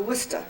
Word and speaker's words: Worcester: So we finally get into Worcester, and that's the way they pronounce it there. Not Worcester, but Worcester.